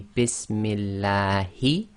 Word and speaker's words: Bismillahi: Kasra before the name of Allah makes the Lam of Allah go tarqiq, i.e. light.